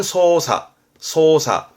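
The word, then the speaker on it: 操作: 발음은 소사.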